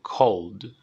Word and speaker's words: cold: Escritura, como le estamos viendo en pantalla, pronunciación O, cold.